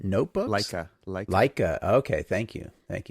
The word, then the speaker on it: Leica: was for the And I'm not sure I'll pronounce this correctly either, but what is it? The Lakia notebooks. Leica Leica.